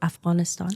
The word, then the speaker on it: Afghanistan: And by the way, the proper way to pronounce it is Afghanistan.